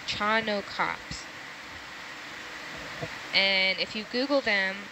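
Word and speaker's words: Chaunacops: it no you're right I thought it was chaa but it's chano yes chano cops and if you Google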